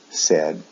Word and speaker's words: said: as the ones above however the pronunciation is different say said said the pronunciation is a short e sound e said in both the past and the past participle also with the s